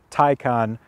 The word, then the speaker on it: Taycan: lovely brand new 2020 porsche tycoon tycoon that's just what it is taikon turbo this particular model